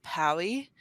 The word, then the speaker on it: Pa11y: But another tool that I've started looking into lately, I think you pronounce it Pally, and it's PA11y.